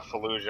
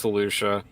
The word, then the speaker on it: Felucia: years star killer murders or she's on uh fallujah i think yeah it's felucia okay so that's how you pronounce it the uh yeah felucia or [